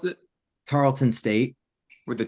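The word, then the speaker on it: Tarleton: the name of the school how do you pronounce it Tarlton state with a t yep Tarlton okay yep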